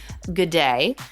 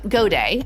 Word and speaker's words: Gaduet: I have on today Rob good day which um go day actually I I pronounce it wrong every time you'll hear it in